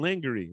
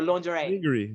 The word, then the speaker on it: lingerie: So I decided to get some lingerie, right? Be all sexy. And as they go, is it linger or lingerie?